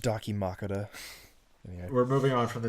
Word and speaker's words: dakimakura: here heroines who is this game before it's pronounced dakimakura we're moving on from the dakimakura dude who's